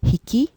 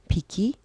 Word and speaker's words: 匹: This is pronounced as hiki, piki, biki.